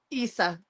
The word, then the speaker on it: Issa: So in this, how do you say her name? Is it Issa or Isa? Issa.